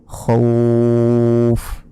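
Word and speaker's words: خوف: ফা দুই জের ফিন খও ফিন তো এখন এই যে এখানে যদি আমরা থামি তাহলে কি বলতে হবে খউফ টেনে বললাম তো এখানে অনেকে প্রশ্ন করতে পারেন খউফ কেন বললাম খউফ বলার কারণটি হচ্ছে ফা অক্ষরের নিচে দুই জের রয়েছে কিন্তু যদি এখানে আমরা থামি তাহলে এই দুই জের উচ্চারণ হবে না অর্থাৎ এই শেষের অক্ষরে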